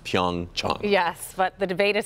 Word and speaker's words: Pyeongchang: and we found out that it is correctly pronounced pyoung cha yes but the debate is still out he